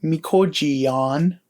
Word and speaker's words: mikojiyan: Our glottal stop example is mikoji, and from here we change the glottal stop to a Y sound and then add our suffix. So our verb is pronounced mikojiyan.